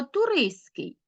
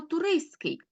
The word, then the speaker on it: туристський: у вимові спрощення відбувається ось цей звук т у вимові випадає так само туриський так звук ти випадає у вимові ми Ми кажемо туриський кусці пишемо ти але